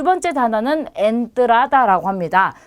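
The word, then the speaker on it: entrada: 자, 두 번째 단어는 엔트라다라고 합니다. 자, 엔트라다도 가장 처음에 왔기 때문에 에로 발음이 되고요. 엔트라다는 뜻이 여러 개가 있어요. 우선 입장권을 뜻하기도 하고요. 입구를 뜻하기도 합니다. 그래서 엔트라다, 에로 발음하시면 돼요.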